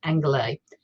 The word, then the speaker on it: Angeles: it's spelt like los angeles but it's actually pronounced anglais and it started as a piece of journalism